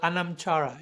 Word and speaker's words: anamchara: connection I'm I'm thinking your website is called anamchara if I'm pronouncing it correctly which in Celtic wisdom refers refers to a a soul friend, right?